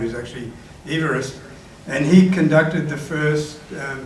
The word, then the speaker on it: Everest: But the pronunciation of his name is actually Everest.